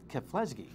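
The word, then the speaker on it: Keflezighi: Rita jeptu and the male winner who's MIB keflesky is how you say it we got some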